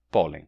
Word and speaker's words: pólen: Então, a palavra pólen, em espanhol, se escreve P-O-L-E-N e se pronuncia pólen. Pólen. Com toque aqui, N. Pólen. Diferente do português, né, que é só pólen.